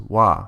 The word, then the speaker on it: は: That's why the ha at the end is pronounced wah because it's the topic particle.